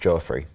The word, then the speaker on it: Joffrey: It's not Jeffrey, he says pronounced Joffrey.